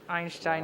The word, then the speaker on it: Einstein: And so we had a lot of German in our home, and Einstein is the correct way to say it.